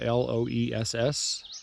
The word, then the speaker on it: Loess: It's spelled L-O-E-S-S, but it's pronounced Loess.